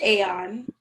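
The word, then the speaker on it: A0N: name is aeon and it's spelled a space the number zero space the letter n but it's pronounced aeon and the name of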